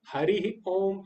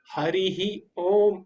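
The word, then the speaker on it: हरिः ओम्: भ हो भ हो तो विसर्ग का उच्चारण हो की तरह हो गया लास्ट में ओ आया मति मति नहीं होगा मती मती हरि नहीं होता हरि ओम हरि ओम नहीं होगा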